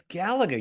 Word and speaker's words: Galaga: way he said it how do you say it pronounced Galaga Galaga I don't know it's Galaga you freak I never heard it